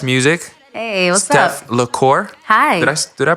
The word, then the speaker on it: Steph Lecor: just talking off the mic that it's French, and I speak French, so I'm trying to get it as close as possible. It's Steph Lecor.